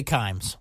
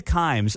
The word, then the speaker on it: Kimes: Mina Kimmes. Kimes. Thank you, Mark.